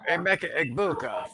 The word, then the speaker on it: Emeka Egbuka: Now, as far as my wideouts, Emeka Egbuka from Tampa Bay. yes, there we go. We got the pronunciation correct this time.